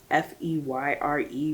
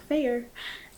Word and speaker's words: Feyre: yeah can we talk about how it's spelled f-e-y-r-e but pronounced feyre my brain even when I'm reading it to myself is like fair and um r h y s A and